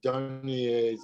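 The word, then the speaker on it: Dunye: If you're interested in that whole subject, you should see Cheryl Dunier's, I don't know how she pronounced her name.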